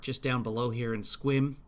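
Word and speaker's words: Sequim: down below here and swim which is spelled sequin but if you're from Washington you know that uh I sent a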